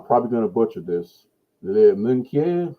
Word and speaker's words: Minquiers: But she got a big head start, and she made it to, I'm probably going to butcher this, Minquier, how do you say that? Oh, sorry. La Minquiers.